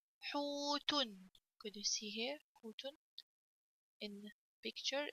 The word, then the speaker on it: حوت: Dom comes off before it on the ha, so I have to pronounce ha longer with the sound of waw.